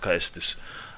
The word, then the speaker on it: Caestus: The other Aldrich Faithful has a dagger, and the other Aldrich Faithful with the Caestus, it is pronounced Caestus.